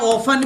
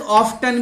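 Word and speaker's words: often: इसका प्रोनाउंस बेटा ऑफन भी होता है और इसका प्रोनाउंस ऑफ्टन भी होता है, दोनों ही बोलते हैं इसको, ऑफन भी बोलते हैं और ऑफ्टन भी बोलते हैं, इसमें कोई दो राय नहीं है, दोनों ही सही है।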